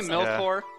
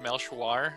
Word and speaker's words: Melchior: Did you say Melkor? I said Melkor. Yeah, I'm pretty sure we agreed it's pronounced Melchior.